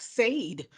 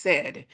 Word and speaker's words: said: in this case said looks like Sade because of the English language and the Great Vowel Shift from Middle English um we know that that's not pronounced Sade it is pronounced said so these are the